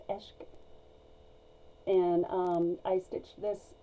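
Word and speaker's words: عشق: i can word anyway this is farsi for love and i think if i'm saying it correctly it's eshk and um i stitch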